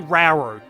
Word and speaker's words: Rauru: roll roller however you pronounce it i'm pronouncing it rauru it's officially rauru which is kind of cool i should sort of